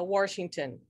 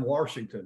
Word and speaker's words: Washington: to add that coach there's no r in washington right yeah coach rankin